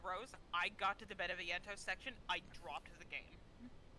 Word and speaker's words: Beneviento: Beneviento.